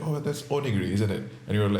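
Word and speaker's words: onigiri: name the food and oniri is is that how it's pronounced yes yeah yeah very good yeah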